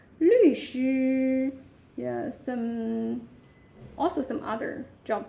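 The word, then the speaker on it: 律师: 律师. Yeah. So 律 which is the falling tone, and 师 that is the first tone.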